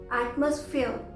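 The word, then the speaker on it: atmosphere: इसी तरह से एटमॉस्फेयर, एटमॉस्फेयर, यहाँ पर भी लास्ट में ERE आ रहा है, तो लास्ट का ई साइलेंट हुआ और हमने ER को ईयर बोला, ईयर। आर भी बहुत स्लाइटली सुनाई देता है।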